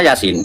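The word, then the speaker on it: يس: Yasa tulisannya Yasa tapi bacanya Yasin.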